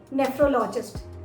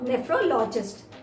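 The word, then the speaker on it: nephrologist: Kidney के doctor को हम बोलते हैं नेफ्रोलॉजिस्ट। नेफ्रोलॉजिस्ट स्पेलिंग ज़रूर ध्यान से देखिएगा। यहाँ पर PH है जिसका साउंड फ की तरह आ रहा है, फ, नेफ्रोलॉजिस्ट।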